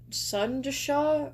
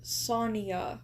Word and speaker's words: Sonia: So, there's apparently there's a character and their name is not pronounced as sunasha or whatever. It's simply Sonia or Sonia. Uh, nice and short.